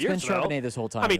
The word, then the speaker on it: Charbonnet: Is it Charbonnet or Net? It's Charbonnet. It's Charbonnet, 100%.